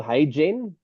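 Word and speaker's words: HeyGen: Um, a there's a company called Hey Genen or a website called Hey Gen.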